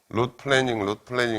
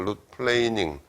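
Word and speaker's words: root planing: 영어로 룻 플레이닝, 룻 플래닝 이렇게 발음하는데 그건 틀렸고 룻 플레이닝, 플레인 어떤 평면이라는 플레인이라는 게 동사로 쓰면 이렇게 평평하게 하다 뭐 그런 뜻이거든.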